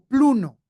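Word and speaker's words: πλύνω: como el G4150 y se pronuncia como pluno y significa hundir, significa sumergirse y significa lavar.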